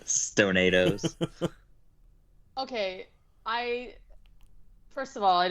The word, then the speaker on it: Stonados: I keep wanting to pronounce it like Tostados and do like Stonados, but that's not correct. I love that. Stonados.